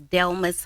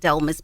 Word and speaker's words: Delmas: okay my name is Delmas Domus Delmas but actually I pronounce it dolmas because that is the way that you see it on paper but it's actually pronounced Delma growing up a lot